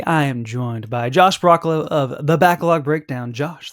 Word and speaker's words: Broccolo: And It I'm like, just broccoli, just with an O.